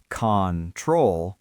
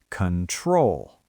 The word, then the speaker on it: control: We do not say control with a round O sound at the beginning. The stress is on the second syllable, so the first O becomes a schwa, control.